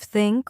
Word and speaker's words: think: Yes, many learners say tink instead of think or dis instead of this, but here's a simple